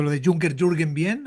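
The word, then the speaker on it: Junkerjürgen: mejor que la media en España, porque es Bu- un nombre muy complicado, sobre todo si ves cómo se escribe con la J y la G, daría Juncker Juergen y suena muy mal.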